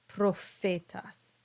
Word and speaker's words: prophetas: Next, we have the letter P, same as English, and even PH is the same as in English. It's pronounced like an F, prophetas.